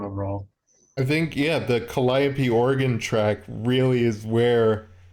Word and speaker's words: Calliope: Calliope.